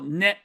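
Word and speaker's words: ね: We have a particle, another ending, a sentence ending particle, ne. Ne. Ne. And it's almost always going to be pronounced ne.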